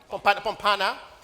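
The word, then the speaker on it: pompano: Pompana.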